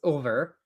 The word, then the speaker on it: Ulver: I want to point out that the Space Wolf's name in Rogue Trader, which was Ulfar, which is spelled wrong, it's Ulver. That's how you pronounce it.